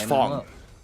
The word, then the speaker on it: Fong: It is how it's pronounced in Chinese. Yeah, that's why I say it that way because they don't pronounce his name in Chinese as Fang. It's pronounced as Fong.